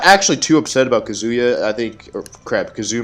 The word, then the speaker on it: Kazuya: It's Kazuya. Kazuya, not Kazuya.